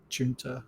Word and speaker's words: Jun: to nominate okay uh gent nominates safel by the way please tell me if I got your name wrong yeah it's a Jun it's fine Jun okay um do you